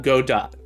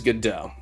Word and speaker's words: Godot: gdo not it's not yeah is it really pronounced gdo yes gdau not God dot um either's really fine but uh the official pronunciation is gdau um do SUB do fuel snab exapp you